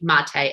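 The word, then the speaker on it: Maté: Gabor, I believe is how you pronounce his first name, Mate, M-A-T-E.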